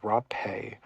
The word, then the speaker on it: rapé: We did this thing called rapé. So, the first weird thing about rapé is that it's spelled the same way as rape.